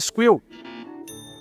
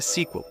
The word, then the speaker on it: SQL: Já ouviu falar de Squill? Ok, é Sequel.